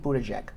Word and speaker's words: Buttigieg: commentary on all of this was by Pete Buttigieg.